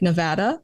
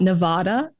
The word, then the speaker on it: Nevada: to hear that you pronounce Nevada like Nevada. Yeah. And not Nevada. Who says Nevada? Potato. So many people, everyone on the east side, eastern side of the states, they say Nevada.